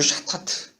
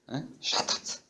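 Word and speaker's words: חטאת: 히브리어 성경에 쓰였던 건데 첫 번째는 여기 하도 아니고 샤타트. 샤타트. 말이 좀 특이하네요, 그죠?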